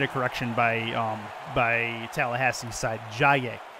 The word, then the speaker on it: Jaye: Jaye is who is the correct pronunciation for that first name. Jaye.